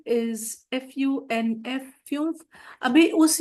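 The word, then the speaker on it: fünf: 5 इज FUNF, फ्यूफ।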